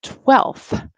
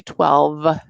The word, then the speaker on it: twelfth: say fifth special pronunciation and twelfth is another one we don't say twelve we just say twelfth but everything else has